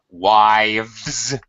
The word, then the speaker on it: wives: So the pronunciation rules are not changed here because V is a voice sound. So when I change it to W-I-V and then follow it E-S, the S makes a Z sound.